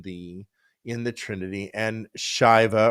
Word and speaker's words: Shiva: in the Trinity and Shiva or Shiva some people pronounce it would be the Destroyer